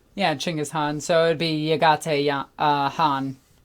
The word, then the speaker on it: Chinggis Khan: Kind of like how, like I said, what people say Genghis Khan, it's actually Chinggis Khan. Yeah, Chinggis Khan.